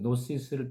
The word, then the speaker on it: Gnosis: 영지주의는 특별한 지식 아까 말씀드려 GNOSIS 근데 발음은 노스 있습니다. 이라는 지식 노시스를 통해 구원을 받는다는 주장입니다.